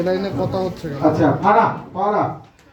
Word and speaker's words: ফারহা: আচ্ছা ফারা, ফারা, ফ আকার র আকার হ হসন্ত ফারা, ঠিক আছে? মানে আমরা ওর নাম উচ্চারণ করতে গিয়ে ফারা, ঠিক আছে?